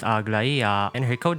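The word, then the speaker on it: Aglaea: Her name is pronounced Agla, and her code name is pronounced Carlos.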